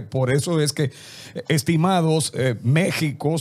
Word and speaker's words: México: eso es que estimados méxico se pronuncia con jota pero esa equis que venga y éste una equis ahogada que propia de aquella forma de hablar bien investiguen antes de